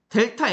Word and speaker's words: 델타: 기호로 이렇게 쓸 거야 이게 뭐라고 읽나 뭐라고 읽는가 델타 x라고 읽으면 됩니다이 세모라는 기호를 델타라고 읽으면 돼 얘는 델타 y겠지 이게